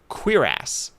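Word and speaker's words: cuirass: Well, that's how you pronounce it. It's it's it's a kw e sound.q. So, it's queer ass is how you're supposed to say it.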